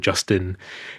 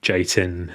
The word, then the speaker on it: Jatin: Uh, I've I've landed on it's like Latin with a J just that's enough and that's fine. Um, but yeah, I've been called Justin Jatin uh Yatin um Jatan which is quite nice.